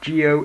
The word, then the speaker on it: Zi-O: The very first image of Kamen Geo. It is pronounced Geo. It is spelled Zio.